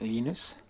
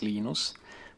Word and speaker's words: Linus: Um, when I speak Swedish, it's Linus. When I speak Finnish, it's Linus. When I speak English, it's Linus. And I really don't care how people pronounce open source.